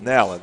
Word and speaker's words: Nalen: And Timber Nalen. Timber Nalen. Nalen, okay. Got to pronounce the short A there.